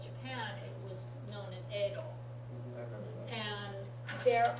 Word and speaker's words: Edo: it was known as Edo. I remember that. And there are places, I've seen text where it was spelled Yedo, but it was never pronounced that way in modern Japanese.